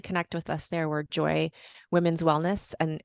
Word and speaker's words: Joi: with us there we're Joy Women's Wellness and joy is spelled Joi and then our website